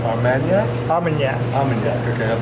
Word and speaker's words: Armagnac: Armagnac.